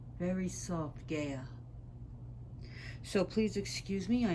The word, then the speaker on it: Gaia: was a pagan, said that it should be pronounced Gaia. Very soft, Gaia.